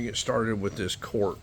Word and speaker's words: Korth: German way to pronounce court is kind of like Court like you're going into a courtroom but it is spelled